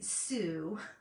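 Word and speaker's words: Sew: In case you're wondering, I say Sue, even though it's spelled S-E-W. So you could pronounce that either so or Sue.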